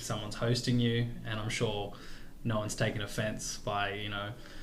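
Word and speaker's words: 四: in Chinese is pronounced su and actually that sounds very similar to the word for death which is so it's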